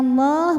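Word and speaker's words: الله: Qala innama innama yataqobbalullahu lam pada lafaz Allah atau lam jalalah dibunyikan secara tafkhim sebab huruf sebelumnya berbaris dammah maka dibacanya ditebalkan. Bagaimana cara menebalkannya? Angkat bagian paling belakang dari lidah kita atau pangkal lidah kita. lullah. Jadi bunyinya Allah bukan la yataqobbalullahu.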